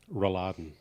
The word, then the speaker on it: Rouladen: Rouladen.